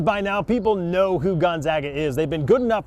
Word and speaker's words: Gonzaga: i actually knew that yeah gonzaga gonzaga gonzaga and you pronounce it correctly yeah not gonzaga or whatever that's not an arkansas